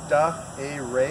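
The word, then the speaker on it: Dah Eh Ray: He's been identified as Da A. Ray, and that's spelled D-A-H, middle name E-H, last name R-A-Y.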